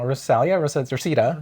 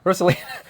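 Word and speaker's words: Rosalina: I I like the uh fighting scene of I keep getting her name wrong. Rosalia Rosita. Roselina. Roselina.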